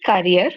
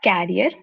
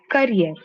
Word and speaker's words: career: So it is career not carrier career.